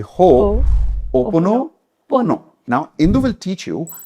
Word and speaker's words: Ho'oponopono: Say Ho'oponopono.